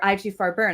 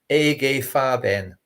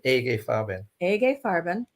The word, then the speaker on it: IG Farben: who are sticklers alexis it's actually a gay fabin that's how a german would say a gay farben in 1933 hitler said